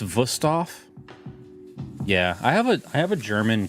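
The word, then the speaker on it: Wüsthof: It's pronounced Wusthof.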